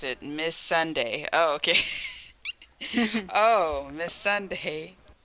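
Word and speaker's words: Missandei: you pronounce it, Miss Sunday.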